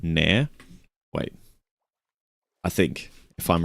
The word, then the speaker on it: Nair: It's spelled N A I R like that. Nare.